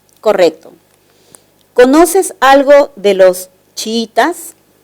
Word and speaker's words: chiítas: algo de los chiítas la palabra chiítas presenta un hiato simple verdad dos vocales cerradas iguales pero la sílaba tónica es la segunda y eso quiere decir que la palabra se entiende como grave una grave que termine